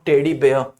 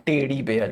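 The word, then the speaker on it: teddy bear: ये बता देता हूं टेडी बेयर इसको पढ़ते हैं टेडी बेयर भालू दिवस तुम लोग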